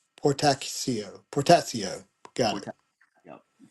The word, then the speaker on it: Portacio: couldn't pronounce earlier, Will's Potassio. Spataschio. Potassio. Yeah, yeah, yeah. I've How does that's a POR make that sound? pour. Poor Tassio. Tachio. C. So. CIO. Oh, okay. Portacio.